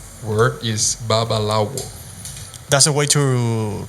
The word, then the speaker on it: babalawo: to say it all the right word is babalawo that's a way to pronounce it Well normally in Cuba when you call some bubble hour in the in the streets you can say babalao but that's the human way yeah okay so